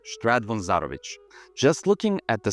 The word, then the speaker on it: Zarovich: Although, if we want to be technical, the original pronunciation Zarović probably sounds more Eastern Slavic, like Belarus. I think their last names commonly end in ch or ch.